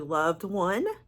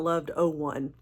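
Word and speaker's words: Loved01: It's actually Loved One, not Loved 01, even though it's spelled out as Loved 01, but I think it's pronounced Loved One, which I really do like that.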